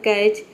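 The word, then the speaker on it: catch: एक वर्ड होता है कैच सी एटी सीच तो उसमें भी देख सकते हैं कि टी सीच एक साथ आता है तो वहां पे भी टी लेटर साइलेंट रहता है तो किसी भी वर्ड में अगर टी सीच एक साथ आता है तो वहां पे आपको समझ जाना है कि टी लेटर साइलेंट रहता है ठीक है केवल हम टी सीच को प्रोनाउंस करते हैं तो बीच-बीच में मैं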